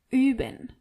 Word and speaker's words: üben: Wir üben. Ihr übt. And sie üben. As you can see and hear, you really have to be careful how you pronounce O-Umlaut. Üben.